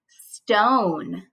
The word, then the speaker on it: stone: Stone. There's another silent E, making the O say its name, O. St-O-N, stone.